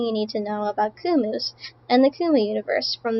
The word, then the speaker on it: Kumu: Uh, everything about the Kumu universe. I think the burger emoji is scarier. The burger is scary. It's got 197 reads already. Wow. Uh, what are kumus? Kumus, pronounced kumu, are a fictional species created by chaos.